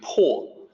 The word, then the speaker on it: 魄: So in pinyin, it's po, looks like po, but it's actually po. So this is one of the tricky sounds in Mandarin for a non-native speaker to learn, to sound like a native.